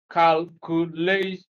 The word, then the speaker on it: calculation: So we place stress on the second syllable from the end of the word. We are applying one of the rules we earlier saw. So that gives you this as the correct option, calculation.